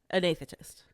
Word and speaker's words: anesthetist: Yeah, but it's not about being able to pronounce every single letter in the word, right? You've got to ignore how some words look versus how they sound.